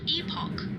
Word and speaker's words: Epoch: It's pronounced epoch, by the way.